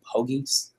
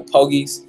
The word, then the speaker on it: Pogi: Us in Alameda, we know it as the Pogies. It's actually pronounced Pogi for this Italian family, but we call it the Pogies.